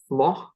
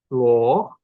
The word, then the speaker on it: floch: koth instead of koth, or the word for child as floch instead of floch.